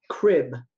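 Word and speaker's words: Kryb: and and so Ashley meant to be pronounced crib like a baby's crib but it's spelled k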